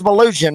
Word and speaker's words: Malugin: It is Malugin, right? Yes, I'm actually surprised you can get it correct. Not many people say it right.